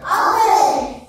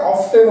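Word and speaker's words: often: comes hair ঠিক আছে আবার এটাকে অনেক সময় অনেকে অফটেনও বলে এটাকে টি টা বলেও অনেকে উচ্চারণ করে মাঝেমধ্যে অফটেনও বলা হয় দুটোই চলবে ঠিক আছে এটাকে অফটেনও বলা যেতে পারে অফটেনও বলা যেতে পারে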